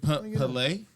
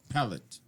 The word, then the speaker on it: Palette: Is it Palais? Alpine? Palette. So you actually pronounce the T's.